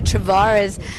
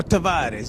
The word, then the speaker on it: Tavares: He's chatting to Travares, and you guys didn't compete in the last little stint of the SAGT because you were preparing for the endurance. Yeah, Tavares. You got to say it right, and the name